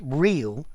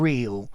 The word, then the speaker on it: reel: Actually, while we're at this, notice reel, double E, and reel, as in not false, R-E-A-L, the sound is identical. Yeah, so there's no difference in pronunciation.